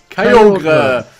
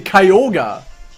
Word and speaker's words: Kyogre: Kyogre! Oder nee, Kyogre! Ja, stimmt. Hat er zumindest gesagt in Generations. Ja, das ist auch die richtige Aussprache.